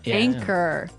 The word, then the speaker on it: anchor: Anchor. Anchor. Anchor. Now, it's spelled A N C H O R. Right? But you don't pronounce the ch as you normally would, right?